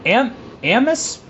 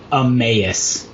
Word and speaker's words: Emmaus: This is Emmaus, Pennsylvania? Emmaus.